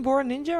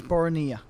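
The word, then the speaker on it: Boranija: Are we calling him Bora Ninja or Bora Apparently Nia? the correct pronunciation is Borania.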